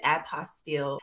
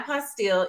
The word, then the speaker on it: apostille: pronunciations the term term does stem I believe from French Origins so it is apostel and I'm Texan so